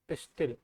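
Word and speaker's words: pistil: spelling P एस आई टी आई होता है क्या पिस्टिल है ना इसको क्या बोलते हैं पिस्टिल इसका एक नाम और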